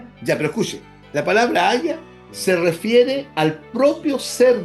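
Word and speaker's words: הָיָה: Pero el verbo hebreo en ser se pronuncia haya.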